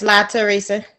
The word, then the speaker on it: Latrice: Did I pronounce that right? Yes, Latrice. Latrice.